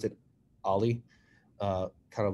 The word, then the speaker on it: o11y: at uh alifest ali is short 0-1-1y we pronounce it ali uh kind of like a skateboard trick ali